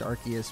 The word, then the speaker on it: Arceus: at the moment and yes I know it's pronounced Arceus but I prefer to call it our siesta that's what I've always been calling it and